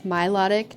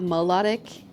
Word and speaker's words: Milotic: Hi, it's Milotic, not melodic. Milotic. Milotic. Not you mansplaining Pokemon to me. How to pronounce. If you mock me right now, I'm going to be actually mad. How to pronounce the Pokemon melodic? Because I think I thought it was supposed to sound like melody.